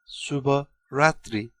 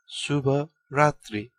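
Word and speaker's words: शुभ रात्री: to say good night in Nepali we say subba ratri it is pronounced as subba ratri let's break it down subba means good or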